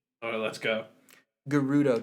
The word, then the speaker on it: Gerudo: Gerudo Desert. I think I say Gerudo. Okay. Gerudo? I know some people say Gerudo.